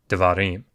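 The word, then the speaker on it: דְּבָרִים: So if it's under the first letter of a word, you're going to pronounce it like a short E sound or a short U sound, devarim.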